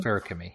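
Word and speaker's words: Feruchemy: of magic, and I don't remember how you pronounce it. It's a ferrochemist, something. Ferrochemy, yep.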